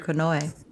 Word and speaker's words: Konoe: Konoe. I'm trying to remember it's an A sound at the end. Konoe.